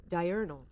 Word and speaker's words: diurnal: How do you pronunciation? I feel like I'm pronouncing it wrong. Diurnal. Diurnal. Okay, I'm pronouncing it right.